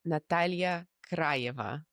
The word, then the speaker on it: Natalya Krayeva: Instagram is my name, Natalia Cryva. Isn't that so beautiful how she pronounces it? Yes. Russian style and um yes on